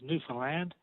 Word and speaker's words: Newfoundland: John's, Newfoundland. That's how we pronounce it over here.